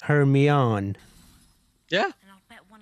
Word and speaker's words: Hermione: When people used to read the book before the movies came out, I know many people used to say Hermoine rather than Hermione.